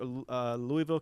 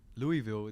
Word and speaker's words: Louisville: They pronounce it as Louisville, but we were like Louisville. Yeah. We're like, guys, how do we pronounce it? Is it Louisville? And everyone's like, no. And we're like, oh, okay. How do we pronounce it? Everyone's like, Louisville. So we had to learn, and that was pretty fun. Yeah. That southern accent, Louisville, Louisville. something like that.